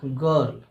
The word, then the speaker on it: girl: लेकिन इस उच्चारण होता है ग, इसको हम लोग पढ़ते हैं गर्ल।